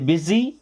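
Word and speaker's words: busy: education नहीं education education इसको बुशी नहीं पढ़ते बिजी इसे बी यू एस वाई को हम बिजी पढ़ते बुसी नहीं बिजीनेस क्या हो जाएगा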